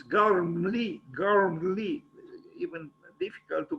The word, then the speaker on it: Gormley: have that H, and because after G is O, not R. Somehow I always say Anthony Gormley, but it's not Gormley, it's Gormley, even difficult to pronounce, I think.